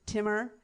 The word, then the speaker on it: Timur: I think is it like it's Jamal but it's Timur? Is it like that? Is it like the emphasis has to be on the second syllable for it to be right?